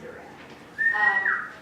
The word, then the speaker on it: Duran: I appreciate that you go with Duran because it is not spelled like the band, but it is said like the band. It's Duran.